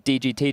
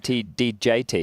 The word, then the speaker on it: DGT: Someone said his name's DGT, Jason, not DJT.